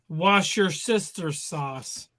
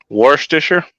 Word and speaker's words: Worcestershire: How do you pronounce wash your sister sauce? Worcestershire?